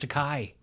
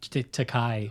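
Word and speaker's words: Takei: George to K I thought it was George to Kai um yeah yeah that was I think that was a famous m iation on the part of will Shatner I hear that he insistently called him takai wow even though it's yeah well whatever whatever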